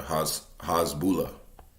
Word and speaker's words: Hezbollah: Yeah, Hezbollah.